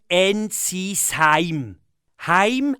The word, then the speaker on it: Ensisheim: n'avez pas à N ça se prononce NC Heim en alsacien ça veut dire home